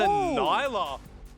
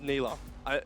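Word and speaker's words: Nilah: in as well but it's a Nyla I think it's actually pronounced Nila Rusty yelled at me for this the other day I'm gonna say I'm going to say Nila um but this this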